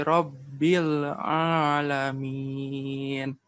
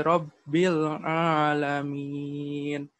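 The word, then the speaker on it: رب العالمين: Kembali juga ya, yang lam yang terakhirnya ya, Rabbil Alamin. Tolong itu sudah bagus ya, sudah bisa dirasakan alirannya. Akan tetapi kurang ditekan ya, karena mereka ini prinsipnya tawasud gitu.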